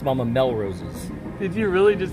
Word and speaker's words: Melrose's: It's Mama Melrose's. Did you really just say the emphasis is on the first syllable?